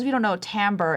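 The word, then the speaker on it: timbre: So, uh for those of you who don't know, tambber, it's spelled t i m r e.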